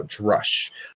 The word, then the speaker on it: Drush: the authors say that they do prefer to pronounce it as I'm saying it right now, Drush.